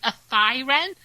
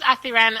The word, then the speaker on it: Athiren: I pronounce Athiren as if I was saying a thin wren, but all as one word, and without the N on thin. Still, one of the people